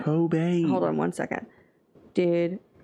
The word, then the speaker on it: Cobain: did but cban cocaine kbane who the hell is kban I've been saying his name wrong Kurt Cobain Cobain hold on one second